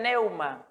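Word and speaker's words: pneuma: de la griega neuman se escribe con fe y se pronuncia en neumas que según el contexto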